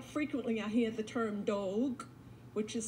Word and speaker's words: Dogue: When I think about the different people who were indigenous to Virginia who were here, quite frequently I hear the term Dogue, which is spelled D-O-G-U-E or D-O-E-G.